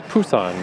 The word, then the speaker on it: Busan: I learned in Korea, they actually pronounce Busan with a with a P.